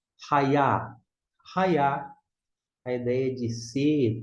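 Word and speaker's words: הָיָה: Temos o Yud, que é o Y aqui, que é próximo, equivalente ao nosso I em português. Aqui embaixo, A. Ra e A. E o Re é mudo. Desta forma, Raiá.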